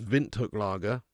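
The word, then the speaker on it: Windhoek Lager: Yeah, it's pronounced Vint Hook Laggera.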